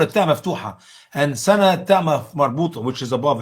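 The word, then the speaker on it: سنة: Usama, how do you say year in Arabic? Sinna? Sana. No, sana.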